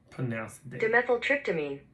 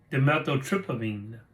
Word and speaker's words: Dimethyltryptamine: Pronounce it. Dimethyltryptamine. Dimethyltryptamine. Dimethyltryptamine.